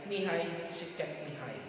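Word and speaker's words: Mihaly Csikszentmihalyi: So, yung isa ay si Martin Seligman, yung isa ang basa nung sa kanyang pangalan ay Mihai Chiket Mihai.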